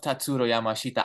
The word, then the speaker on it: Tatsuro Yamashita: fans of this artist but uh I love tatsuro Yamashita I don't even know if that's the way you pronounce it how do you say that that's